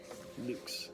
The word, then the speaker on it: LVX: they spell which is pronounced to rhyme with the word boots which is luke's so it was the